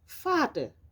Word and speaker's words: Vater: La lettre V se prononce comme un F en français, c'est un V, der Vater.